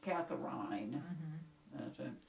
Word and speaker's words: Catherine: This would have been about 1815 or 16, but anyway, in 1822, they had a daughter, Catherine, spelled with a C, but pronounced Catherine.